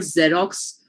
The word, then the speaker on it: Xerox: from a phonetic perspective, I will not keep in mind the fact that there is an X in the beginning, because there is no X pronunciation. What pronunciation is there instead? A Z pronunciation, right?